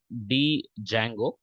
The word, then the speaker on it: Django: It's already available there, क्योंकि Django एक framework है जो फास्ट डेवलपमेंट में यूज होता है।